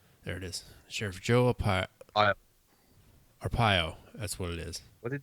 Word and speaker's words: Arpaio: Sheriff Joe Aparo. Aparo? I think that's how you say it. I know I'm slaughtering his name right now. Sheriff Joe Aparo. Yep. Aparo. There it is. Sheriff Joe Arpaio.